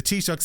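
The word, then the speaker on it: Taoiseach: And uh I guess let's start with the lunchon where Trump kicked things off by absolutely butchering the Tishuk's name in a way that suggests he has never once spoken to an Irish person.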